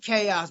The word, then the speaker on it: KaOus: So I'm Chaos, but people also know me as.